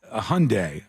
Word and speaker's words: Hyundai: know who did that Hyundai and they said Hyundai like Sunday and I never forgot again I said oh okay that's how you do it that's how you pronounce that word or uh Mar no